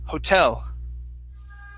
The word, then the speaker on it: hotel: the word hotel okay stress at the end hotel hotel all right very good